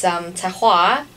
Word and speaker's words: Taïrroir: Okay, so it's Taïrroir, Taïrroir, and this name actually invented from our chef Kai Ho.